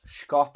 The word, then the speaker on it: Schopp: Schopp, C-S-C-H-O-P-P. He's from Hartberg, I do believe you pronounce it.